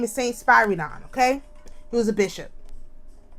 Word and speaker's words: Spyridon: I wrote his name wrong, but his name is St Spyridon.